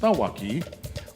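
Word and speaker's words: cawaki: The prints of coral and the delicate kawaki, or pronounced thawaki, or the sea urchins, represent the beauty and vulnerability of our reef ecosystems.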